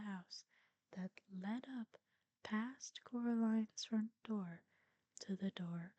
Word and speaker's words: Coraline: mice they get things wrong they got your name wrong you know they kept saying Coraline not Caroline not Caroline at all he picked up a